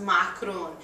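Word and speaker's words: معكرون: making Lebanese macroons uh in Arabic it's pronounced macaron now these are not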